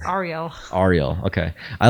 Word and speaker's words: Ariel: Do you prefer Ariel or Ariel or Ariel or Ariel? Actually, none of them. It's Ariel.